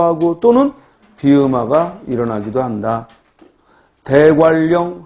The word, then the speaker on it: 대관령: 대관령 할 때는 리을 유음화가 일어나지만 공권력 할 때는 니은 비음화가 일어난다.